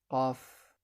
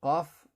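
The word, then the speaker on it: قَ: Et ici, comme on l'a vu précédemment, la lettre Qaf se prononce Qa.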